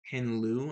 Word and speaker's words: Ken Liu: My next one is a Ken Liu, I think is how you pronounce his name.